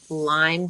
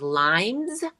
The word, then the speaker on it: Lyme: to these different doctors, so many people will pronounce Lyme disease as limes with an S. So, that was like nails on the chalkboard. Like, if somebody if a doctor said limes, Alex and I would